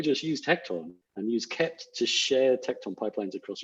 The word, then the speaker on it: kpt: open source project called kept it's spelled kpt but pronounced kept which is basically a